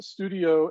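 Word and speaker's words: stdio: them um so uh i guess studio and stud io are two different pronunciations of uh studio and it's probably another gif versus jif argument and i'm not gonna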